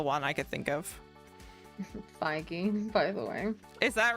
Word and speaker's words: Feige: Feige, by the way. Is that really how it's pronounced?